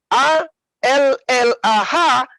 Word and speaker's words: Allah: Jadi kata Allah dalam bahasa Indonesia, A, L, L, A, H, itu rujukan dari alif, lam, ha. Allah. Dengan tanda tasdid, maka dia dibaca tebal.